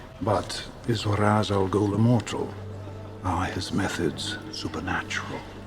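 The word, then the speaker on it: Ra's al Ghul: Am I pronouncing this right, Mr. Raz Al Ghoul? Not only did she mispronounce the name, she failed to use this movie's designated misprononunciation. Truly stunning.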